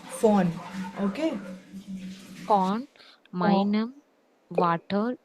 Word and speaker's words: von: One, meinem, On, it's not von. V in German is fa, von.